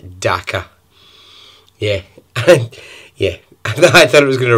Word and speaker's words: Dhaka: It doesn't really rhyme with anything. It's called Dhaka.